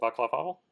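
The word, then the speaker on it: Václav Havel: I can't remember how to pronounce his name. Vaclav Havel?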